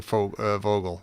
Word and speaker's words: Vogel: deaf in terms not how these work that's it's spelled vogue I want to go back to saying Fogle no I say Vogel because it's written by Americans and it's like